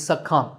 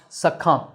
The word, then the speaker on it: succumb: Next is sak. The b at the end is silent, so it's pronounced sak.